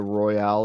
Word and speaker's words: Royal: played it before the Royale Edition and Ro it's just Royal it's not Royale it's Royale with cheese